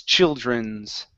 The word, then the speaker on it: children's: on that D so instead of saying CHR using a hard R sound dren it's J okay push your tongue downward so it does not touch the top of your mouth okay Columbus children's children's children good good